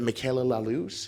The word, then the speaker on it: Michaela Lallouz: Today I am here with Michaela Lallouz. Is that how you pronounce it?